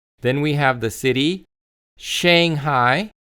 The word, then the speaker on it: Shanghai: Then we have the city Shanghai. So make sure you are saying shang shang shang. So again shanghai shanghai.